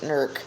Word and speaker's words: Newark: Yes, Jim Brentar, people really pronounce it Nurk, like N-E-R-K or N-U-R-K, like you've got it spelled there.